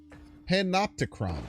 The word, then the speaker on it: Panopticon: panicked oh thank you junkhead that's pitrone panopticon panopticon I finally figured out how to say